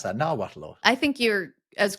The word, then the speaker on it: Nahuatl: It's from Nahuatl. How do you pronounce that? Nahuatl? I think you're as correct as I'm going to be. I've heard that you sometimes don't pronounce the L, sometimes you do.